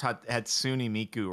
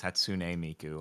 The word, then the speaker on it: Hatsune Miku: Sorry, I pronounced Hatsune Miku wrong. It's Hatsune Miku.